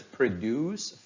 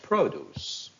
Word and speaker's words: produce: how we learned that the words that function both as noun and as a verb if they are two syllables and play the role of a noun the first syllable takes a stress but if they are a verb the second syllable takes a stress let's read this sentence Farmers produce fresh produce I am happy with